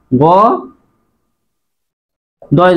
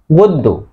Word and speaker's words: গদ্য: এটা নিয়ম ছিল যে শব্দের মাঝে বা শেষে যদি জফলা থাকে তাহলে জফলা যুক্ত বর্ণ দুইবার হয়।